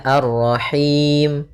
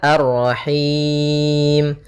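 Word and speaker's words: الرَّحِيم: Boleh dua, boleh empat, boleh 6. Maka kalau dua misalnya arrahim, kalau empat arrahim, kalau enam arrahim.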